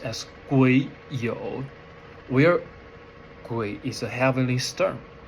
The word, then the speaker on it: 癸酉: This is 癸酉, pronounced as 癸酉, where 癸is a heavenly storm and 酉 is the earthly branches.